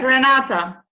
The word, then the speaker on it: Renata: Yeah, just like that, Renata. And what you pronounce it perfectly.